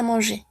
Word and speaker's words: manger: Une salle à manger. Une salle à manger. Ouais. Esta va a ser una L. Très bien. Y esta R no se pronuncia.